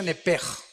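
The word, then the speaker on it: nefesh: Digo, por favor, esta palabra alma en el original hebreo es la palabra nepes. Apúntala como suena nepesh con sh se pronuncia nepej.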